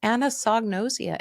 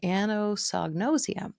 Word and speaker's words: anosognosia: had to learn some great new techniques that's anosognosia a o s o let's see a n o s o n o s IIA anosognosia and I spell it for you because people